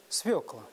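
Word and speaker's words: свёкла: смиримся с Дмитрием жарковым правильный ответ свекла Абсолютно верно Амелия Да если есть буква ё то ударение всегда ставится сюда Раз два три четыре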